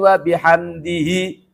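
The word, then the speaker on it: وبحمده: Subhana rabbiyal adzimi wabihamdihi. Bacanya wabihamdih. Begitu juga.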